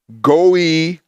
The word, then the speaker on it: goy: The word Gentile here is goy. Goy is generally how it's pronounced.